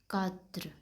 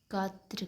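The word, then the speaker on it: quatre: और इसकी प्रोन्सिएशन है कात्र। कात्र कहते हैं इसे। ठीक है? क्यू यू का काफ और ए टी आर।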